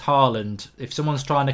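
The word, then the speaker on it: Haaland: we can't get that it's actually pronounced Harland if someone's trying to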